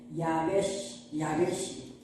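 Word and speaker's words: יבשה: 처음에 나오는 걸 야로 발음해서 야베시 이렇게 나오거든요.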